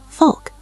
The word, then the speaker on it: wolk: The W sounded like a V. Volk.